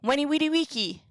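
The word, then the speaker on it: veni vidi vici: Weni widi wiki.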